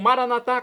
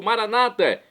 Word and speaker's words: maranatá: E agora eu clamo maranatá, como dizemos nós católicos, ou maranata, como dizem nossos irmãos separados, dos evangélicos ou protestantes. Não importa a pronúncia, o significado é o mesmo.